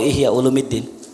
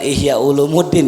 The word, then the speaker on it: Ihya Ulumiddin: kitab namanya Ihya ulumiddin tahu Ihya ulumiddin bukan Ihya Ulumuddin ya itu kalau orang bilang baca Ihya Ulumuddin cara bacanya keliru yang betul Ihya ulumiddin itu hadirin sebelum